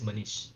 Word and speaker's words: Manish: yeah, it's pronounced demon, and it's Manish.